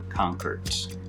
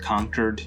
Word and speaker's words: Concord: to why i mispronounced conquered uh i just do conquered i always say conquered like somebody was attacked and they were conquered okay concord concord we got black trash